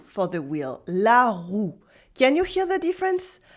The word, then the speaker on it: roue: As in, for example, la rue for the street, la rue, and la roue for the wheel, la roue. Can you hear the difference? La rue, la roue, la rue, la roue, OU, U, OU, U.